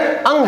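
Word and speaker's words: ङ: इसका उच्चारण हम बार बार गलत तरीके से उच्चारण करते हैं। कोई इसको अड़ पढ़ता है, कोई इसको ड पढ़ता है, परंतु इसका वास्तविक उच्चारण अंग है।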